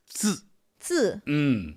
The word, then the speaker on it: 字: Another challenge for me with my English-speaking brain is the pronunciation of the TZ sound. That 字. That's a challenge because we don't really have that one in English.